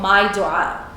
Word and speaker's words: My Dua: And that is that you get your phone and you download an app called My Dua. It's spelled M-Y-D as in David, U-A-A.